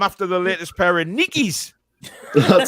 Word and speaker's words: Nike: that he is uh nike is named after the greek goddess of a victory whose name is neither pronounced nike or nike but nikki well tom i'm not